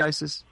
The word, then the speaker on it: Isis: Am I pronouncing that correctly? Isis?